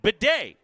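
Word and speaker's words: Badie: yeah and it said Beday they gave me the phonetically the the small B small a small H hyphen capital D capital a capital Y Bay is how you would say that Beday all right and phosis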